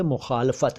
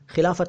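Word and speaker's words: मुख़ालफ़त: विरोध शब्द के लिए मुखालफत है, मुखालफत, मुखालफत, खिलाफत नहीं है।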